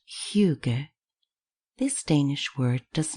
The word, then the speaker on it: hygge: In 2016, one of the candidates for the word of the year of Oxford dictionaries was h Y g e pronounced huger.